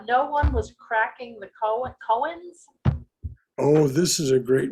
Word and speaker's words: koans: oh has she okay all right but it's pronounced cohens it's how i learned how to pronounce it okay all right it's a japanese word right no one was cracking the koans no one was cracking the koans he had